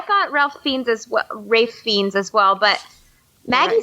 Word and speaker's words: Ralph: Rafe. That's how you say his name. Rafe Fiennes. Rafe Fiennes. Thank you. Okay. Is it really? 'Cause it's spelled Ralph. I know it, but it's pronounced Rafe, Rafe.